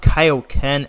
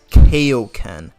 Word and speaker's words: Kaio-Ken: about is just the the fact that they mispronounced Kaio-Ken as Koken. Like they would mispronounce Kaio-Ken as Koko Ken for some reason.